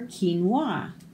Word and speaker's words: quinoa: Q is for quinoa. We can enjoy quinoa and quiche by the quays of Qatar. So these all make a hard K sound.